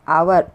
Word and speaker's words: hour: We are not pronouncing H.